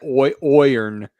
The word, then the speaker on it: iron: I've heard some Irish people pronounce it oirn.